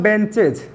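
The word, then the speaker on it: benches: अब जैसे में अगर मैं बात करूं सी एच, तो बराबर मैं बोलूं बेंचेज, तो बेंच। अब अगर इस च के साथ ई एस जोड़ते हैं तो एज नहीं पढ़ते, इसको ईज पढ़ते हैं।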